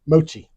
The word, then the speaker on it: mochi: So, and I I'm I'm mispronouncing that. Mochi. Mochi. Not matcha. Yeah, mochi.